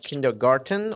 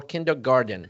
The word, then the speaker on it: kindergarten: Now, what kind of features are you looking for in this sort of kindergarten or kindergarten? Both of them are acceptable pronunciations.